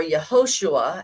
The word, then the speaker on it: Yehoshua: We next go to the book of Joshua, or Yehoshua, as it is pronounced in the actual Hebrew.